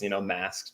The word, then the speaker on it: Maszk: I've always just told people it's, Maszk. Just ignore the Z.